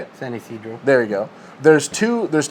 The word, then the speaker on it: San Ysidro: San Ysidro.